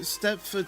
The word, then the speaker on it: Stepford: I mean, Steepford Central, I mean, it's spelled with an O, but Steepford Central, it's sounds like an E, unless you do step central.